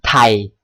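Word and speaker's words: Thai: มี อีก นะ ฮะ มี th ท ออก เสียง เป็น ท ทหาร แต่ แต่ สอด ไส้ สอด ไส้ หอ หีบ สอด ไส้ หอ หีบ ด้วย นะ ฮะ อย่าง เช่น ไทย มัน จะ ออก เป็น ทไฮ ทไฮ ทไฮ แต่ ออก แบบ เร็ว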